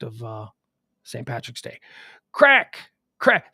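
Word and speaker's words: craic: have it that's why c-r-a-i-c crack crack pronounce crack in american english all right so there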